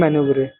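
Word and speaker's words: manoeuvre: List questions की list 37वां प्रश्न है इसकी स्पेलिंग कई बार आ चुकी है। इसका मतलब होता है मैनुवरे। इसको बोलते हैं मैनुवरे।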